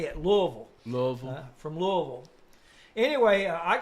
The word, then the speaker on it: Louisville: guys and they flew into the city of Louisville yes and they Kentucky right in Kentucky and